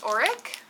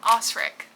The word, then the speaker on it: Osric: I loved Auric. Wait, is that even his name? Osric, not Auric.